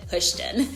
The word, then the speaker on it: Houston: And yes, you pronounce it Houston.